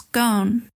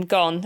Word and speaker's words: Ghosn: talking about Carlos gone are we going to do the the European pronunciation of his surname gone and Not Gon gone yeah gone gon's a bit easier to pronounce isn't it yeah so just for listeners from one of the documentaries I think it was his sister who explains that the the Lebanese pronunciation is Ron which is quite harsh on the throat yeah for us but